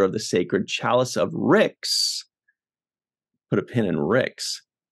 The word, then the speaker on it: Rixx: with dicks um so what rhymes with dicks is Ricks and she says holder